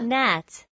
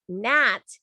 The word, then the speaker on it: gnat: scent very good ava nat the gnat is a tiny flying insect okay a lot of you spelling it incorrectly nat the g is silent how do you spell